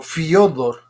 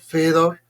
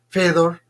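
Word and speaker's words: Фёдор: En Seduca aparece como Fedor, pero bueno, según la pronunciación rusa sería como Fedor, Fedor, Fedor. Entonces, tanto Fedor como Fyodor pueden ser aceptadas, ¿sí?, en esta latinización del nombre de nuestro autor.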